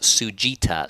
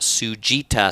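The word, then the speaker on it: Tsujita: ramen place that we really like it's called sugita so if you're going to los angeles particularly near santa monica and you want to check out some of the best ramen uh check out sujita spelled like that t-s-u-j-i-t-a it's in a part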